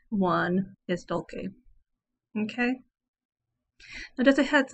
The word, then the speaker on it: Dulce: and i pronounce it dolce because it's a latin phrase and they have a heart c in latin some people pronounce it dolce using the italian pronunciation but the correct one is dolce okay now just a